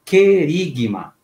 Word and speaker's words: querigma: Esse anúncio que nós conhecemos com uma palavrinha grega dita querigma. Repito, querigma ou anúncio. Palavra grega, né? Quer dizer anúncio. Ela se escreve com Q-U-E-R-I-G-M-U-D-O-M-A.